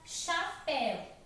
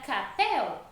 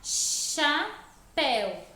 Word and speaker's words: chapéu: A palavra chapéu, ela possui o H depois do C e ela também muda por causa do H. Se o H não tivesse, nós pensarmos assim, não, o H não tem som, eu não vou colocar ele. Mas se eu não colocar, vai ficar capel, porque o C com A é K.